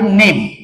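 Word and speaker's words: name: पुढच जे एक्झाम्पल आहे नेम आणि नेम हा शब्द वाचन करत असताना यातला इ हा जो लेटर आहे हा सायलेंट होताना दिसत आहे आपणाला लक्षात घ्या.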